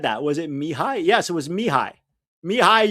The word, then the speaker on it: Mihai: It's pronounced Mihai.